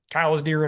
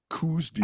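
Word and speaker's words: Coues deer: I've always heard it pronounced kooz deer. I vacasillate I always say kooz deer. Kuz deer is not correct. It's cow's deer.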